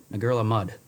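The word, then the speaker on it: Ngerulmud: city is now bear with me here because it's spelled n-g-e-r-u-l-m-u-d UD a girl of mud is how it's supposed to be pronounced that's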